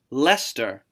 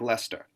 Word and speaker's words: Leicester: The one that I found really fascinating, Leicester, does not look like Leicester.